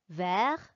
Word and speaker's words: vert: We just don't pronounce them when they come at the end of a word.